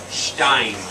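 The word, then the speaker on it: שתיים: Shtaim.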